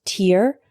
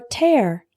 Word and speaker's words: tear: The word tear can be pronounced tear or tear.